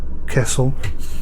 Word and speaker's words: Kassel: we're going to go to Cassel Castle as I think it's pronounced a new vehicle not